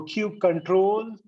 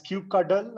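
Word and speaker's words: kubectl: cube ctl okay so cube control some will call it as cube cuddle i don't know why so so cube ctl or cube control you cuttle cuddle or whatever you know cube subtle or whatever they know you heard the names everyone has their own pronunciation so i'm not going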